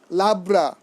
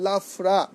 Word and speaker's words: লাফরা: আজকে আমার খুব কষ্ট লাগে যখন আমি চৈতন্য চরিতামৃত পড়ি, যখন দেখি কোনো ভক্ত বলে পাঁচ সবজি লাবড়া, এটি কিন্তু চৈতন্য চরিতামৃতে কোথাও নেই। লাফরা, এর উচ্চারণ হবে লাফরা।